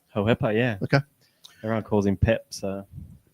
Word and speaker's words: Hohepa: Spoke to Hohepa Puru and so that's how we're pronouncing it, Hohepa? Hohepa, yeah.